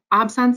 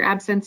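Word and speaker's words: absence: the entire brain um so obson seizures or absent seizures depending on how you want to pronounce it um this is a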